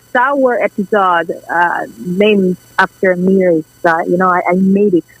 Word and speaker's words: Miri: And I just have to say, so in my homeland, we pronounce my name as Miri as opposed to over here.